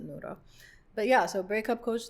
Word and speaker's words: Nora: coach Nora so n-o-r-a that's how I spell my name but I pronounce it noodle but yeah so breakup